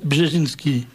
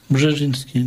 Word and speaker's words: Brzezinski: C'est le bouquin de Zbigniew Brzezinski. Ah oui, ça s'écrit comme ça, ne se prononce pas.